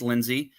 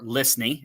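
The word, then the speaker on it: Lysne: That was how he, according to Dennis Lindsay, or Lisney, excuse me, because I always get that name wrong.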